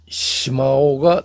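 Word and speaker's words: 石峁: 돌 언덕을 한자로 펴기하면 석묘 중국어 발음으로는 심마오가 됩니다.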